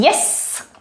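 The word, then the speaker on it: jez: We end up having yes, pronounced with s at the end.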